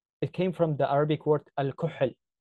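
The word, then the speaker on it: الكحل: It came from the Arabic word al-kuhl. It's like a h, but a lot deeper, like kh, like when you cough.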